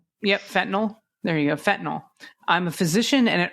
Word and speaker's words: fentanyl: It's like saying fentanyl, not fentinol. Fentanyl. Yeah. Um. Yep. Fentanyl. There you go. Fentanyl.